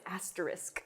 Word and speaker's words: asterisk: asterisk or what i don't even know it's asterisk so overpronunciation so this one is kind of the